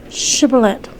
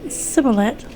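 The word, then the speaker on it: Shibboleth: said no they would tell him to say shibulet if he said siboulet because he could not make his mouth pronounce it right they took hold of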